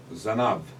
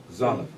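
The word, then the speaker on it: זנב: Zanav. Zanav. Good. So Zanav begins with the sound Z, right?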